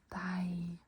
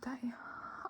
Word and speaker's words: deg: Jeg, meg, deg. I, me, you. All spelled with the EG, but they're all pronounced I. Also, the E is pronounced like an A. So they're pronounced like so.